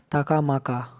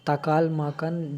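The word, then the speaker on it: Taklamakan: फिर नेक्स्ट आते हैं ताकामाका। ये जो है चाइना में है। सॉरी, ये ताकामाका नहीं, ताकाल माकन डेजर्ट है।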